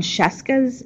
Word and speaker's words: Scieszka: I learned that John Scieszka's name is pronounced how it is because it rhymes with Fresca so let's scrolling down